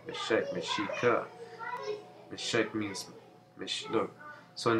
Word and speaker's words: Mexica: Meshika. The Nahuatl pronunciation.